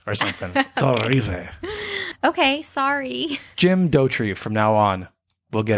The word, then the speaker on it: Dauterive: started this podcast i thought it was jim daughter river but i say i was watching the behind